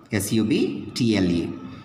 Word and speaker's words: subtle: p l e okay s u b t l e now once i pronounce this word once i pronounce this word here it becomes like subtle s-u-b-t-l-e subtle certain okay b is silent if you observe there